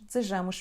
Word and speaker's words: desejamos: Todos nós desejamos viver bem. Todos nós, ligamos estas duas, desejamos viver bem. Desejamos, não ouvimos a letra E.